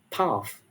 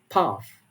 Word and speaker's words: path: path is pronounced as path, path. So there is a differences between how these two accents uh, pronounce the word path. In American English, it is path, and in British English, it is path.